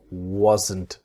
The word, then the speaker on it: wasn't: So the s is like a z wasn't. And then wasn't goes wasn't. I wasn't. She wasn't. It's the N sound. The T silent.